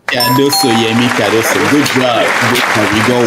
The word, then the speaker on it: Cardoso: I want to know the right pronunciation. That is a new CBA. Cardoso is the name. Cardoso, Yemi Cardoso.